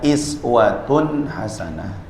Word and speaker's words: uswatun hasanah: Setelah dipelajari ternyata cara bacanya boleh dibaca iswatun hasanah.